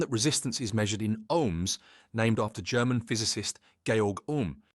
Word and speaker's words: ohm: Second, pronounced like home but starting with O is the SI unit of electrical resistance where SI means international system of units. 1 ohm represents the resistance when one volt produces 1 ampere of current.